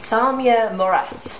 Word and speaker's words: Thaamir Moerat: Then we have one of the judges, and he's got a very sexy name, Thaamir Moerat.